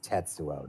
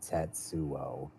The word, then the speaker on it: Tetsuo: you're saying it wrong what it's just it's tetsuo not tetuo tetsuo tetsuo t just kind of just kind